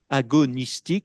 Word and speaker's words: agonistique: grecque cette fois l'agonistique agonistique ça s'écrit comme ça se prononce là encore Q à la fin agonistique l'agonistique c'est-à-dire le